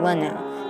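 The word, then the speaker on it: Rina: This is another episode of Lucia, and it's the first appearance of the Green Mermaid Princess, Renatone, who is pronounced as Lena, so I'm gonna go by that when we talk about her.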